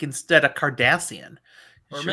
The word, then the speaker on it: Cardassian: Wait, am I saying that? Because that's Kim Kardashian. I might be saying it quite wrong. Cardassian. No, I am saying it right. Cardassian.